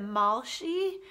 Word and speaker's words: Malshi: Is it Malshi?